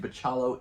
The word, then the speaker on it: Bachalo: like like Chris uh bachallo which I have recently checked online and bachalo is the correct way to pronounce his name I look up an